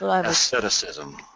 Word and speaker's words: asceticism: I hear you on I would uh call that asceticism I think that would be the correct pronunciation that's asceticism yes asceticism thank you Mr third